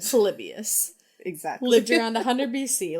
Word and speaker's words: Polybius: So well, you can believe how do I pronounce his name? Exactly how you did. Polybius.